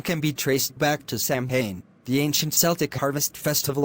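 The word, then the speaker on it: Samhain: the start and end the word Sam ha does not look how it's pronounced Sam Sam ha is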